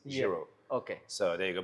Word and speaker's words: Giro: the Jiro Italia so think about the Jiro Italia and that's a best way to pronounce it jro okay so there you